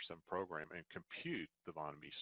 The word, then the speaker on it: von Mises: And okay, that's pronounced von Mises.